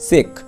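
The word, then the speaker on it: cheque: খুব মনোযোগ সহকারে দেখো, দেখো CHE কিউ ইউ ই সেক, দেখো এই যে কিউ ইউ ই এর উচ্চারণ কিন্তু তোমার কর মতো হয়েছে, CHE ক মানে সেক এরকমের হয়েছে।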